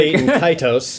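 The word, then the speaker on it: Baten Kaitos: Bait and Kaitos.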